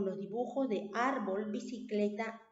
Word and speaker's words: bicicleta: Entonces, como tenemos ahí bicicleta, ¿dónde está la mayor fuerza de voz? ¿En qué sílaba está? En la penúltima, ¿cierto? En cle.